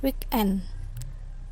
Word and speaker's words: weekend: Compound that receive primary stress on the second part, not the first. Jadi tapi ada beberapa kata yang penekanannya itu ada di kata kedua. Contohnya headmaster, weekend, mankind.